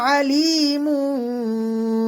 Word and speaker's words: ألا: আলিফ টান হবে ইন্নাহু আলিমু বিদাতিস সুদূর ألا يعلم من خلق وهو اللطيف الخبير ألا لا এখানে জবরের বাম পাশে খালি আলিফ মধ্যের হরফ এক আলিফ টান হবে আলা ইয়ালামু ইয়া এখানে আইনের